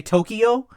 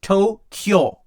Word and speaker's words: Tokyo: Like here, we would say Tokyo, but it's actually Tokyo. The KYO is like all one sound.